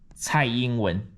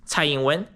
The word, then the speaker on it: Tsai Ing-wen: So this is how you pronounce her name. Tsai Ing-wen, okay? Tsai Ing-wen, she's a dumb bitch, okay?